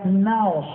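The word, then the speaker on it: ναός: La palabra templo ahí es una palabra griega que se pronuncia naos.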